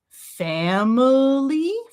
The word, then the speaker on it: family: Number 256, we've got da da da, we've got family, family, family. And if I take that schwa away, then I've got family, 2 syllables.